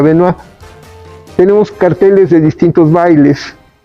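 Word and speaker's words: Benois: Noa de la danza se escribe benoid y se pronuncia venuir tenemos carteles de distintos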